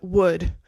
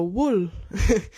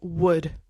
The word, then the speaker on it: would: Also, don't pronounce the L in that word. So say would similar to the tree has wood or good job wood. Sometimes people go wool to do a mix of would and will.